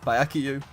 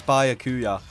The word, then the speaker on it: Byakuya: And just like that, she said, "Oh, Byakuyu. My two favorite characters are here. Byakuyu." I think I'm saying his name wrong. I think it's Byakuya.